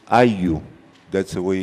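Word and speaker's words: ayllu: It's Ayu. That's the way it's pronounced, Ayu. It's spelled A-Y-L-L-U. In Spanish, double L has the sound of a Y.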